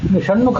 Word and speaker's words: ಷಣ್ಮುಖ: ಉಪಯೋಗ ಮಾಡ್ತೇವೆ ಆ ಶೇ ಷಣ್ಮುಖ ಅನ್ನುವಲ್ಲಿ ಮೂರ್ದ್ಯ ಶಕಾರವನ್ನು ಉಪಯೋಗ ಮಾಡ್ತೇವೆ ಷಣ್ಮುಖ ಅನ್ನುವಲ್ಲಿ ಬಳಕೆ ಆಗುವ ಶ ಅದು ಮೂರ್ಧ ಸ್ಥಾನದಲ್ಲಿ ಹುಟ್ಟುಹೋಗುತ್ತೆ ತಲೆಯಲ್ಲಿ ತಲೆ ಅಂದರೆ